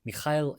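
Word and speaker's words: Mikhail: Probably my favorite author is a poet uh a Russian poet named Michael Lermantov who if you use the um Russian pronunciation, Mikail Lurmanto, if you will.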